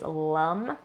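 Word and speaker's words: lam: For the root chakra, that sound is lum. So it's spelled L-A-M, but it's pronounced lum.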